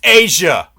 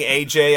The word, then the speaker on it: Aja: It's pronounced Asia. Yeah, after a minute of saying AJ, I actually say that, but you do you.